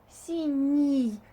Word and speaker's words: синий: Синий. You can hear that n is softer and the ending is e.